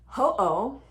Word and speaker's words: Ho'oponopono: mentioned it, and it's not that hard to pronounce, so let's just get it right. It's hooponopono.